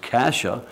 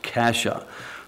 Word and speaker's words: cassia: 47 is spelled c-a-s-s-i-a it's pronounced Kasha c-a-s-s-i-a pronounced Kasha the word Kasha is found three times